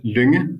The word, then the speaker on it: Lunge: It's pronounced Lunge, so it would be workable if you said it the way you did it, if you came to Lunge and visited me.